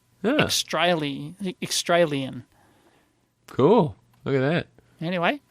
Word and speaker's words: Xtralien: So, Extralian. Oh, I hate it already. So it's like extra alien, or it's like rhymes with Australia. Extralian.